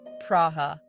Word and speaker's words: Praha: welcome to Prague or as the locals say it praha get ready to be